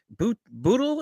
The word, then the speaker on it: Bootle: Addicted, the one, the only, is it Bootle? Is that how you say it? Yeah, you said it right, Bootle.